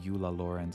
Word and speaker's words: Eula Lawrence: If you wanted to like really Germanify it, I guess you could say Euler Lorenz or something, but I don't think she's supposed to be German. Let's not pronounce her that. I think her name Eula Lawrence is beautiful and it should stay that way.